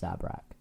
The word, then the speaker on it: Zabrak: It's pronounced Zabrak.